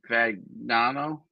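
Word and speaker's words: Fagnano: Fagano.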